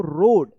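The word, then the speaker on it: road: ए ओ और ए एक साथ हो तो इसका उच्चारण ओ होता है। ठीक है? तो पढ़ेंगे इसको रोड।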